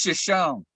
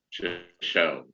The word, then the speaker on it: Shoshone: There's a Shoshone Spring. And I think it's just Shoshone. That you don't pronounce the E. Yeah. Shoshone.